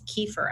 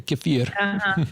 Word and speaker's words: kefir: it, and then he makes kefir out of it, or kefir as it's pronounced. As the Russians say, kefir.